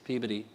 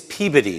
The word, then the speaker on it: Peabody: each other we did yeah marblehead massachusetts and peabody massachusetts peabody it's peabody they mispronounced the hotel here it's peabody mass and